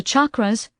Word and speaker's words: chakras: The chakras, pronounced with a hard CH like in the word change, are said to be